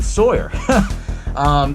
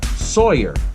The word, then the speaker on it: Sawyer: ends up being Drayton Sawyer the name Sawyer I love this name because a lot of people will easily remember it's a play on the words it's a play on saw her Sawyer and that's and the